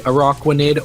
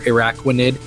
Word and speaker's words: Araquanid: But then it evolves into, and this is up for debate, it could either be Araquanid or Araquanid, depending how which part of the you know, the play on words you want to pronounce.